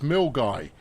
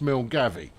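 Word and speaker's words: Milngavie: it's eight Centigrades in uh in Milner it's mil guy I knew that already but I was going to say Mill gay uh so uh so I was close but I know it's not pronounced mil gavi uh I know that because I've been corrected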